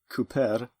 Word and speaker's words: Kuper: But if you don't spell it like the English word for someone who makes barrels, but rather Kuper, and pronounce it accordingly, Cooper, then your players will